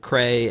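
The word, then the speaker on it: Krei: going to take creed cray down and um by the way i thought it was spelled like like being cray-cray like k like c-r-a-y but it's k-r-e-i just like it sounds no it's not like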